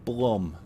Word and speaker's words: Blum: And is it Bloom or Blum? It's B-L-U-M. I've always thought it was Bloom, but I've heard a lot of people pronounce it as Blum, so I don't know.